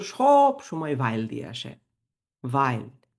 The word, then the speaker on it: weil: ভাইল, এটার উচ্চারণ কিন্তু ভেইল না, অনেকে ভেইল বলেন, না এটা ভেইল না, ভাইল। আমি জার্মান শিখছি কারণ, এই যে কারণই হচ্ছে ভাইল।